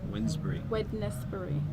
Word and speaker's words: Wednesbury: Wensbury. Wednesbury. Okay. but pronounced Wednesbury. Sort of like It's Wednesday. a silent D.